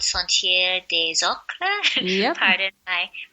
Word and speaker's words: Sentier des Ocres: edge of the town, there's this place called Sentier des Ocres. Yep. Pardon my pronunciation. No, you're saying it good. Sentier des Ocres, yeah.